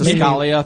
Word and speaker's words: Escalia: It's pronounced Escalia, thank you.